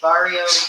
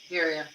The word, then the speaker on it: birria: Easy Barbecue says, and I hope I pronounce this right, Barrio beef tacos. Is it Birria. Birria.